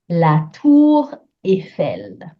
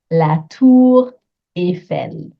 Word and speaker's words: la tour Eiffel: verb voir, which is irregular in present tense, la tour Eiffel. And I know everyone goes to Paris to see it. Make sure you know how to pronounce it. La tour Eiffel.